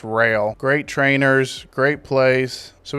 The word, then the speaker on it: Roehl: I keep calling it roll. I looked it up and it's pronounced rail.